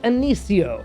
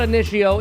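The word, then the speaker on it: Initio: on the niche side oo for Greatness by anio yes I've been pronouncing it wrong my entire YouTube career thank you John at Refinery for telling me how to pronounce this brand correctly it's not antio it's anio which sounds so much more Posh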